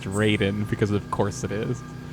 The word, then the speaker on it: Raiden: works in text because the mortal kombat character is pronounced raiden because of course it